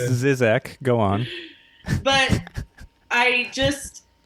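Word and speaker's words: Žižek: you were saying all this it's pronounced it's pronounced zizek go on but i just like most those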